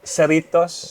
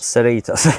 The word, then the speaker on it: Cerritos: this shirt came out um how do you pronounce it again oh celitos Cerritos there we go I believe it's a place